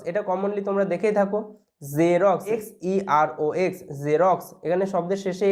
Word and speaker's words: Xerox: তারপরে দেখো এক্স এর উচ্চারণ জয়ের মতো হয়, অ্যাকচুয়ালি জয়ের মতো হতো না, জ জ এরকম একটা সাউন্ড হয়। যেমন জেরক্স, এটা কমনলি তোমরা দেখেই থাকো, জেরক্স, XEROX, জেরক্স, এখানে শব্দের